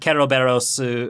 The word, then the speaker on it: Keroberos: want to say that keroberos is how it's pronounced in Japan and I'm not just